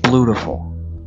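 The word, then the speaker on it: Bluetiful: It's pronounced Blutiful.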